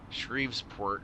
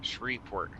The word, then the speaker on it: Shreveport: it Louisiana don't ever try to call shreport shes port or shreport it's just shreport kind of similar to the whole Louisville the